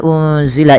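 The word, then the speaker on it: أُنزِلَ: Apabila ada nun sukun bertemu dengan huruf zai, ini cara membacanya adalah nunnya disamarkan kepada huruf zai, ya, unzila, unzila, sembari ditahan dengan 2 harakat bunyinya, dan ini kita kenal dengan bacaan ikhfa hakiki.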